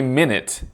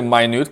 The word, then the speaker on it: minute: Well, in this case, this cannot be minute, right?